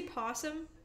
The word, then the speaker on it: opossum: Opossum official. Do you just say possum? Opossum? Yeah, do you just say possum? Opossum? How do you say it?